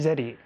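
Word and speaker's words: ゼリー: Coffee, kohi zeri. Zeri is how you say it in Japanese, so.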